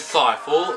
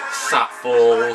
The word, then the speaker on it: Saiful: screen speaking of screams my name is seifel rhymes with eiffel trifle delightful i always have to introduce myself like that to people who don't know me or get my name wrong it's not saffalls safe or or worse